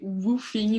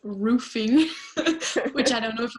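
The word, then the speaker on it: WWOOFing: that was okay so that was actually roofie not roofing pronounced right but anyway I was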